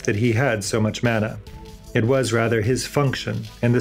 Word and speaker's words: manna: he had so much mana. It was rather his function, in the scheme of things, to serve as reservoir and transmitter of it. Coincidentally, another religious tradition has a homophonic term.